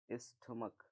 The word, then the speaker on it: stomach: तो ऐसे शब्द, ठीक है, ऐसे सिंगुलर कॉमन नाउन जिनके अंत में सी एच हो और सी एच को प्रोनाउंसिएट किया जा रहा हो हिंदी से, हिंदी के का से, तो हम उसके